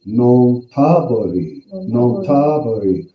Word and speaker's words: Nonthaburi: Nonthaburi.